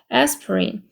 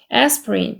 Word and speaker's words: aspirin: used to take aspirin 그래서 아스피린이라고 읽으면 안 되고요. aspirin aspirin. 발음은 aspirin이라고 있기 때문에 이렇게 읽어주셔야 되고 I used to take